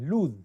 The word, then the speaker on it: lose: तो जो उसका उच्चारण होता है वो ज में होता है, लूज, है ना, लॉस नहीं, लॉस ये होता है।